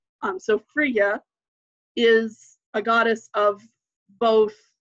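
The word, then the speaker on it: Frige: is Fri GE the the G is usually pronounced as a Y in anglo-saxon so when you see that like the word ear is spelled so Fria is a goddess of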